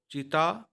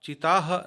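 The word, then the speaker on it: cheetah: तो चीता, आप चीताह नहीं पढ़ेंगे, चीता ही पढ़ेंगे और वह आपके चीता के लिए अंग्रेजी बिल्कुल सही है।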